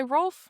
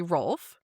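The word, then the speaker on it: Rolfe: the florine, led by Ralph and the Mcinians. You said they've arrived. What? You said his name wrong.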